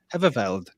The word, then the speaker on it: Heverveld: If you look in the bottom right hand side, that name, Heverveld, that's how you pronounce that. Say it. Heverveld. That's how you say it.